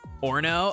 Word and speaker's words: Orono: that's so funny dude Orno oh so the middle o is silent stupid dumb uh bad